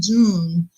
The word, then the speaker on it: Jung: You have to go into what Carl Jung, and some people might pronounce it as Jung, but it's Jun.